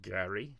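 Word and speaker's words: GARI: So we had RMI Cyber they released their latest attack surface management product which they called Gary G A R I which is good good acronym.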